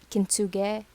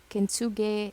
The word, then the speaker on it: kintsugi: this one you know kintsuge kinsuge or kenzugi i think it is how it's pronounced kintsugi is um a way